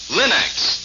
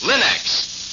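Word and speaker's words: Linx: store remember to ask for them by name Linux it's spelled l i n-x Linux ask for it now now let's hear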